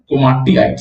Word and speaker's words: komatiites: It is usually ultramafic in nature, and the name is komatiites. Komatiites. So the name pronunciation is komatiites. ठीक है, तो दो आई है ना उसमें, कोमाटी बोलो फिर आइट्स बोलो.